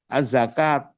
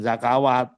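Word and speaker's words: الزكوة: Halo, az-zakat, jangan zakawat, bukan.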